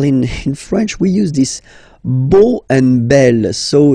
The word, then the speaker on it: beau: So remember this a, u combination of vowels only give you the sound o, beau, okay?